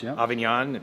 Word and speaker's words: Avignon: south of France for a week in Provence Avignon am I pronouncing that right you are you are actually